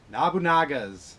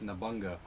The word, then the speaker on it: Nobunaga: First up, Nobunaga's Ambition. I keep saying, I always, before I heard how you pronounce that, it's Nabunga, right? No, it's actually Nobunaga.